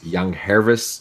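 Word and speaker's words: Yangervis: Young Hervis Solarte. It's a soft G.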